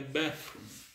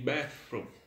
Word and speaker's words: bathroom: inglês O banheiro é bafo bafo ou não se tivesse um F no meio bathroom galera se vocês estão